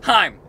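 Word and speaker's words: HAIM: in the world and Lizzy will say it's pronounced Heim and I'm like listening time is a band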